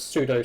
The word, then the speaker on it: pseudo: I'm pretty sure it's pseudo celebrity status. Celebrity status is what got you and me our tickets. I'm pretty sure the P's meant to be silent. Pseudo. Pseudo. You said it right.